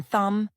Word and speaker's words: thumb: Don't pronounce hidden letters like B in thumb or K in no.